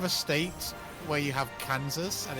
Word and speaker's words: Kansas: But how you can have a state where you have Kansas and it's pronounced Kansas, and then you take that exact